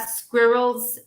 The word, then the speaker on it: squirrel: squirrel do you have squirrels in city do you have squirrels squirrel ah dark l okay squirrels squirrels you wear